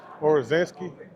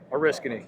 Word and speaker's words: Oriskany: So, how do you say this? Orizansky? Oriskany. Oriskany.